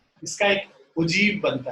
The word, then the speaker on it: ogive: ठीक है, लिखते उसको OGIVE है, इसका प्रोनाउंसिएशन उजीब है।